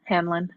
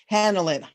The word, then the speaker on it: Hanlin: Is that how you say it? H-A-N, Hanlin. Hanlin. Yeah.